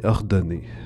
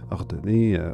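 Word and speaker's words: Ordonez: C'est donc la chef de cette émission-là qui s'appelle Maïté Ordonné. Ordonné, O-R-D-O-N-E-Z. Je prends pour acquis que le Z ne se prononce pas.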